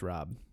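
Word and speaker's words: Raab: I think it's pronounced Rob. Rob himself. It's like Sob, but Rob.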